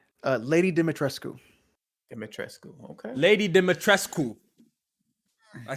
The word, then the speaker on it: Dimitrescu: Lady Dimitrescu.